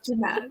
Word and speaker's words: Jeannette: I'm going to try to change to that, but no, it's Jeanette.